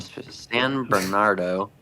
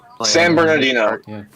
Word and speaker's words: San Bernardino: Little Mountain Fire in San Bernardo San Bernardo head back to the beach Bernardo I think I I don't know how you say it San Bernardino yeah today it's 30 Acres